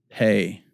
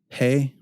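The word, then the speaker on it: פ: So it's a silent letter for all our purposes today. Pay.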